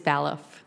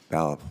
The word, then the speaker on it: Balaf: It could be Balaf as in ballet, or it could be Balaf as in ball game. How do you pronounce it? It is Balaf. Balaf.